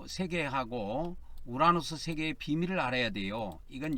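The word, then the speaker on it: οὐρανός: 이게 우 발음이에요. 라고 이건 노고 이건 S 발음이고 그렇습니다. 이거는 코, 스, 모, 스 이렇게 됩니다. 코스모스, 우라노스.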